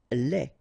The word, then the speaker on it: lait: Lait. Un lait. Okay, so the only difference is the final thing here, they, you don't pronounce it, they, you don't pronounce it, so phonetically you only have this lait.